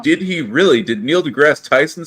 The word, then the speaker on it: deGrasse: It is deGrasse, right? Yeah. Not Degrassi? No, deGrasse. Neil deGrasse Tyson. The I is silent? Degrassi was a TV show. It's supposed to be an E at the end.